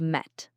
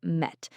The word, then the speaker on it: met: Listen closely. Met. M e t. Focus on that short e sound like in bed or red. Not me, but met.